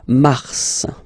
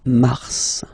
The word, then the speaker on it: mars: So in a way it's an exception because normally final S is not pronounced in French. Okay. We've got some exceptions and this one is one of them. So Mars pronounce the final S.